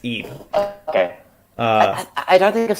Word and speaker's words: Ib: Oh, IB, but it's pronounced Ebe.